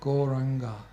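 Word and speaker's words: Gauranga: proper complete meditation practice so goranga has four syllables on so we are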